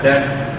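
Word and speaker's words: debt: फिर डेट है, इसे बी साइलेंट है डेट।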